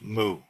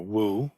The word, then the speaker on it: 無: and 4, the third character is always mu, as I've been taught to say it, or wu, which is closer to the Mandarin pronunciation.